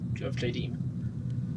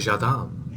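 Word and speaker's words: Jadame: I've always called it Jadim, but I don't think it is Jadim, but whatever. Yeah, it's a made-up word. You can pronounce it however you want. That's why I will now call it Jadam. It's probably closer.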